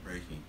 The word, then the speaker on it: Reiki: John actually does Reiki, or how do you say it? Reiki.